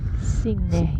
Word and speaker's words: Signe: Signe. Signe. The G is soft. This is what Monica, the CEO, told me. So the G is a soft G in her name.